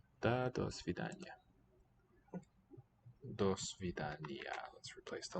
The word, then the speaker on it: До свидания: Свидания. Свидания. 4 syllables. До свидания.